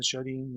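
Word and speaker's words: 少林: Entonces, hay muchos estilos que se dicen shorin, Se pronuncia shorin y está correcto que así sea, pero la palabra yo se escribe con 3 trazos.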